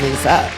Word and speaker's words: Liza: Give it up for Liza Trager, everybody. In a sad turn of events, it is Lisa, but it's okay. It's spelled like Liza.